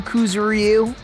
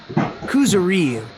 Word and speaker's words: Kuzuryu: Wasn't there another person whose last name was also Kuzuryu?